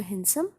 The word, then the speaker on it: handsome: HANDSOME, इसमें D silent रहेगा, pronounce करोगे आप इसको हैंडसम।